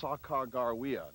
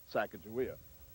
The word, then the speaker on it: Sacagawea: Eventually, Clark nicknamed her Janie, but her real name seems to have been pronounced Sacagawea, not Sacagawea. In legend, she guided the